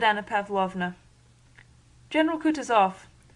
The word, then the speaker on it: Kutuzov: General Kutuzov, said Bolkonsky, speaking French and stressing the last syllable of the general's name like a Frenchman, has been pleased to take me as his aide-de-camp.